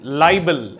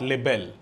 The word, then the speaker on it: libel: deformation is this and the right pronunciation of this word is libel and not labelled so libel is publication